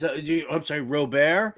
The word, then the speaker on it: Robert: do you I'm sorry Robert is he French isn't that he pronounced his last name real bear I think it's Lewis Robert ah okay yeah two